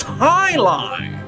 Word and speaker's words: Jai-Alai: What the heck is Jai-Alai? It's pronounced Highline.